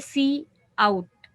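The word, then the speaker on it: cout: सी आउट, इसको pronounce किया जाता है सी आउट।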